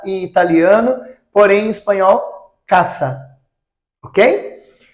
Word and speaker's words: casa: Então, em espanhol, nós não falamos casa, nós falamos caça. O som do S é um som de C cedilha, tá? Então, casa em português, casa em italiano, porém em espanhol, caça.